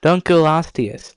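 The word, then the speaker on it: Dunkleosteus: Dunculostius.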